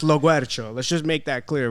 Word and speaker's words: Loguercio: So our last name is pronounced Loguercio.